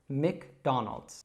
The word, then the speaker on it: McDonald's: So you can practice saying that again, Donald, McDonald's.